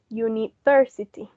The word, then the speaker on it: university: so you're on university but the stress of that word the primary stress was on the thirsty level university so now we're going